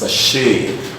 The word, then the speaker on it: machine: is a French word and as a resource pronounced as such she says she knows subject nice touches machine alright so what will give towards actually rupture